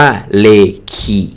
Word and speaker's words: เรอิกิ: เสมอ มา นะ ครับ คำ ว่า เลกิ เนี่ย ออก เสียง ว่า เลคิ คีย นะ ครับ ประกอบ ไป ด้วย คำ